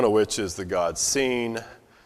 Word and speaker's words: Sin: okay uh one of which is the god seen spelled s i n but pronounced s n in English uh from which